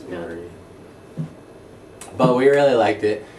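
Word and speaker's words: Maurie: Yeah, that's a different spelling for Marie, but it's pronounced a little differently. It's not Marie. Yeah, it's like There's Maury. Yeah, it's Marie.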